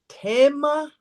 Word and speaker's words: Thema: You know, Tema, Tema. that's a Theme. German pronunciation. Mm. I was listening to a German man speaking, and he said the word Thema, and I'm like, oh my Mm.